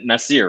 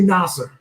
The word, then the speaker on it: Nasar: And we've been talking, I mean, am I saying it right? Nasir, right? It's actually Nasar.